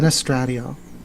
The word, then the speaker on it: Vanesstradiol: Yeah, Venestradiol.